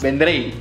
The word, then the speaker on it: Vendrell: La cuestión es la L, ¿no? Final, que a veces sí. Cuesta más. Vendrell.